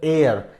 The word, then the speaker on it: heir: एयर HEIR का जो pronunciation होता है दैट इज एयर, एंड इसका जो मतलब फेमिनिन जेंडर है दैट इज एयरिस।